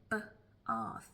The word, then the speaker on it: bath: But for us Southerners in London, we pronounce it b-arth, and R is not really a phonetic sound, really, that is taught with that dialect.